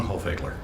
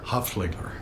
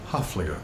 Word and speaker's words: Hoefliger: I'm with our dear friend, Jean Hoefliger. Still not. All right, try again. Jean Hoefliger. Hoefliger. There you go. Hoefliger.